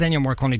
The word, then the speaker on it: Ennio Morricone: Ennio Morricone, I can never pronounce his name right. I think it's Ennio Morricone, isn't it? It is Ennio Morricone that passed away during the week.